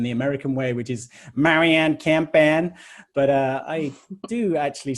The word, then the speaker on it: Marian: So you said my name is Marian.